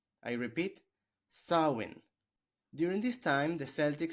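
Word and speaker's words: Samhain: of Halloween comes from the gelic festival called sawin I repeat sawin during this time the Celtics celebrated the Harvest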